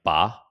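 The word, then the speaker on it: 八: culture yeah um because it's pronunciation is I don't know if it's this how you say it but it's like ba which sounds similar to the word fa fa which means to make fortune so the number eight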